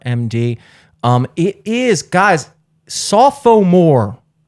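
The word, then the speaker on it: SoPho More: um it is guys saw Pho more not sophomores not sophomore sophomore that's how it's spelled I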